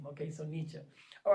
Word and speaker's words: Nietzsche: it is about academia they're really big on pronunciation like worse than the french so if you say nietzsche or nichi they're gonna look at you like oh obviously you went to community college so say nietzsche nietzsche is the name okay so nietzsche all